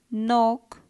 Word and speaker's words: knock: Knock, K.